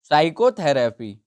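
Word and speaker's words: psychotherapy: sandwich which letter is silent in साइकोथेरेपी तो हमारा word कौन सा है तो इसमें जो हमारा वर्ड साइलेंट है वो है पी क्योंकि हम एस से सा से उसको उच्चारित कर रहे हैं साइकोथेरेपी नाना कि बोल रहे हैं प साइकोथेरेपी तो पी हमारा साइलेंट है इस वर्ड में फिर है हमारा हाउ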